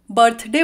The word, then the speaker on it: birthday: मैंने लिखी हुई है ब्रिटिश इंग्लिश में हम बर्थडे वर्ड को कुछ ऐसे प्रोनाउंस करते हैं बर्थडे बर्थडे ब्रिटिश इंग्लिश में आर साइलेंट रहता है और उसकी जगह एच लग जाता है बर्थडे और वहीं पर